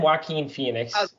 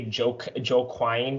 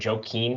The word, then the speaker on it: Joaquin: ledger i'm not gonna and then and then joaquin joaquin phoenix was pretty badass though i i like what people say joe quine phoenix or joaquin phoenix i have a i have a cousin